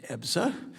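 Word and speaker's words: EBSA: In July, the subcommittee held a hearing examining the Department of Labor's Employee Benefit Security Administration known as EPSA, pronounced EPSA, which is vital agency that protects workers hard-earned health and retirement benefits.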